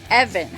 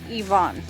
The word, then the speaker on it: Evan: And I apologize, I guess I've been saying it wrong this whole time. It is Evan, not Yvonne.